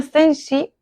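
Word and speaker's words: zhenji: Uno de estos es sensi, se escribe z h e n j. En chino se denomina senji, que el significado de la traducción vendría a ser huella verdadera.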